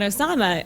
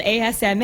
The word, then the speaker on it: Asma: on hold on I my name is not Osama oh ok Osama thanks very much you know I'll say well no it's spelled Asma and particularly for airline